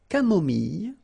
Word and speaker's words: camomille: Un thé nature, une tisane, une camomille. So remember when we get this E and then double L, it goes like y. Mille, camomille, une camomille, un thé